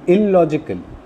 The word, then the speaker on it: illogical: Similarly, I have given you some other examples to illogical. Illogical. So the first stress is on I and the second stress is on the second L.